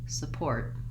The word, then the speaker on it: support: and I want to just practice maybe saying the stress syllable first, port, and then a light, quick touch on my sa sound, support.